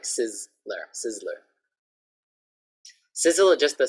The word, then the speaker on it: Sizzler: So this one, a little bit like a softer Z, it's not like a Z, but actually like Sizzler, Sizzler.